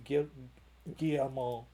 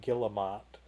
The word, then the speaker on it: Guillemot: There's no N in there. It's M-O-T. Guillemot. Anyway, I say it like Guillemot.